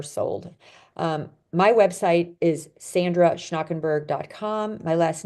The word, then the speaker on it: Schnakenburg: our books are sold um my website is Sandra schnakenberg my last name is spelled s c h n a k n